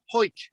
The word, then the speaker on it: Hawick: Happisburg, Haysborough. It's like Hawick, Hoyk.